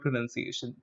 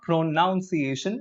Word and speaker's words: pronunciation: But then when it comes to the noun form, it's not pronunciation as many people pronounce it incorrectly. It is the correct form is this pronunciation.